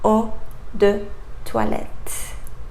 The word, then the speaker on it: eau de toilette: So it comes from the French language, and you should pronounce eau de toilette.